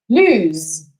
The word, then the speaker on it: lose: now notice the pronunciation the first one is pronounced lose the second one is pronounced loose one more